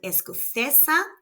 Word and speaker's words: escocesa: the last syllable and esessa has no accent and it ends in a vowel so the stress is on the second to last syllable.